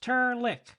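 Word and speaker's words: Terlk: my name's not fuzzy it's turck pronounced turck and spelled t e r l k my name's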